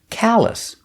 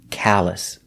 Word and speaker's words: callus: is a big city another example callus it sounds like dallas but with a c sound callous a callus is a